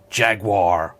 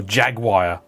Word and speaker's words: Jaguar: don't say no and if they're american i bet they say jaguar or jaguar the hell's a jaguar